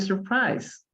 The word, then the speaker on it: surprised: Okay, and Alice was not very surprised. Y Alicia no estaba muy sorprendida, very surprised. Okay, aquí no pronunciamos la E, ¿ya? Surprised.